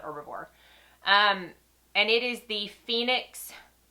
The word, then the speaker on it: Herbivore: So I saw this in the Just Arrived section, and it is from the brand called Herbivore, or Herbivore, however you want to pronounce it. I call it Herbivore.